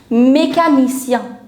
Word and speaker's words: mécanicien: Mechanic is known as mécanicien.